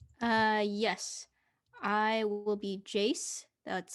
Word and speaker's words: Jace: your animal type uh yes i will be jace that's spelled j-a-c-e pronouns they them and i'll be